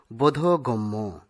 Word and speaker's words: বোধগম্য: আমরা অনেক সময় এই শব্দটিকে বোধগম্য এভাবে উচ্চারণ করে থাকি, কিন্তু সঠিক উচ্চারণ হবে বোধগম্য।